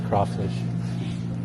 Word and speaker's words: crayfish: Even though it's spelled crayfish, you say it's crawfish. You pronounce it that way.